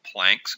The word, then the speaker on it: Planck: It's called Planck's constant. Some people pronounce it Planck.